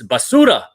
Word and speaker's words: basura: Roll your R. I can't roll my R.